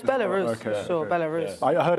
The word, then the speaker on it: Belarus: just check with you both are we pronouncing Belarus correctly yeah what were you thinking I thought it was barus no it's Belarus okay sure Belarus I heard MP pronounce it that way once that must be